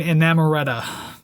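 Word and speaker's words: Inamorata: to song number nine enamoretta i i did not pronounce it like that in my head i like that a little more sounds like amaretto yeah um i found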